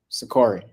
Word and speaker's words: Sakari: I am in collaboration today with the Killer Crane Speaks On with the, is it pronounced the Sakari Warriors? Sakari. Yes. Sakari.